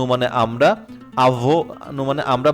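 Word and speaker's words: mon ami: হচ্ছে plus noun মনামি মানে আমার বন্ধু ম এমনও এন এষেত্রে উচ্চারণ ম আর আমি উচ্চারণ এমই আমি মন আমি মানে আমার বন্ধু মন আমি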